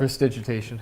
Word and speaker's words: Prestidigitation: Prestidigitation.